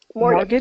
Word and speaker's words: mortgage: Mortgage. Oh, yeah. So that is the tricky part. Mortgage. So mortgage, yeah, that T is silent. We don't pronounce that T.